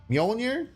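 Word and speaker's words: Mjölnir: love it love it mjolnir that's how you say it I guess you could but the only reason why it's mjolier is because you can't say majonir that would hurt he's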